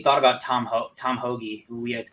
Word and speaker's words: Hoge: out i feel like wait serious is it pronounced host by the way for real is it pointless definitely tom hogey but my friend i call him i like